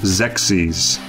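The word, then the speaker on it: Xexyz: chosen a harder name to pronounce okay it's pronounced sexys known in japan is kame no onogaishi urashima densitsu all right i'm fine with zexis as you may have noticed by the title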